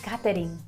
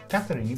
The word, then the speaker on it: catering: catering or oh catering in italy they say catering catherine because they because because cats make the food i hope not that's